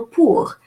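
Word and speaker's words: pour: silent but silent but in this particular word the final R is pronounced so it makes it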